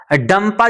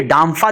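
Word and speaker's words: Dampa: मिजोरम में कभी-कभी डंपा इसका नाम दे देते हैं। कभी डांफा दे देते हैं। बहरहाल जो भी हो उसका प्रोनाउंसिएशन उनकी अपनी भाषा में होगा। बाकी मिजोरमियम की लेकिन इसका डंपा आपको याद रखना है।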